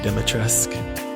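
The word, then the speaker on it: Dimitrescu: Yes, you do not pronounce the U. Apparently it's a silent U.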